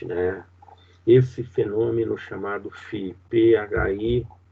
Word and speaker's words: Phi: E ainda, né, se falando nessa ilusão da Gestalt, né, esse fenômeno chamado Phi, P-H-I, cuja pronúncia é Phi, né, que diz que é uma ilusão de movimento ou movimento aparente, quer dizer, nós somos traídos pelo movimento.